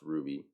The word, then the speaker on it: RWBY: Um, but for the Ruby team, it's spelled RWBY, but it's pronounced Ruby. And it's those letters because they're the initials of the four characters that make up that team.